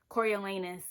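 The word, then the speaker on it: Coriolanus: Cornelius Snow, and I'm aware his name is pronounced Cory Elanus, but I think he's a corny corny, bitter, hateful, never going to find love man.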